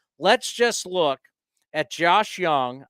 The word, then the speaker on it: Jung: just look at Josh Young I know it looks like Jung it's Josh Young because he's German is it German I think so look at about you're playing with the Rangers Third Base yes it's spelled j-u-n-g but it's young you want the like